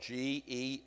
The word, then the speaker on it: Gehenna: It's spelled G-E-H-E-N-N-A, Gehenna.